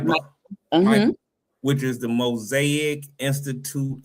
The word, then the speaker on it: MIPA: MIPA, which is the Mosaic Institute of Performing Arts.